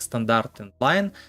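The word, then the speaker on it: std::endl: Произносится как стандарт endline.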